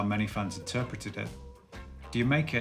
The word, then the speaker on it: D'yer Mak'er: Rather than being yet another esoteric reference, which is how many fans interpreted it, D'yer Mak'er is simply a play on the way Jamaica is pronounced by the English.